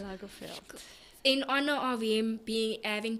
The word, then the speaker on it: Lagerfeld: Lagerfeld. Lagerfeld.